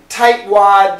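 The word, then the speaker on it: tightwad: a tight stop sound tight wad actually now we have two stop Sounds here uh clean T tight t w d okay so these these stop sounds are different this is a very clean there's no vibration type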